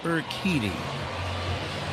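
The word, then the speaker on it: Urquidy: U R Q U I D Y pronounced Eriti.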